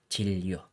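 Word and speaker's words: 치료: And take note yan, yung pronunciation dito ay chilyo. Okay, so makikita nyo guys, this is neon and lil na nagkadikit. Okay, so basta guys may makita kayong mga ganitong letters, basta magkadikit sila sa isang word, kahit alin yung mauna, neon or lil, yung R and L, pag nagkadikit yung dalawang yan, ang pronunciation dyan is double L. Okay, so chilyo.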